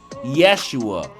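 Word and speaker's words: ישוע: This name Joshua is pronounced the same as Jesus. In Hebrew, it's pronounced Yeshua.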